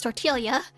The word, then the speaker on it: tortilla: is lead yeah yeah bertilia Attila or chelia right it's tortilla so Tilia moth oh